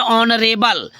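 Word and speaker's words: honourable: आदरणीय होता है, तो ऑनरेबल में भी यच क्या हो गया है आपका, यच में अंडरलाइन कर दो, यच साइलेंट हो गया है ऑनरेबल में, ठीक है, ओके।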